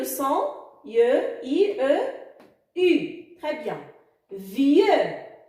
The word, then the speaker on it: vieux: Vieux, le X à la fin, muet. Et le son ye s'écrit I-E-U. Vieux.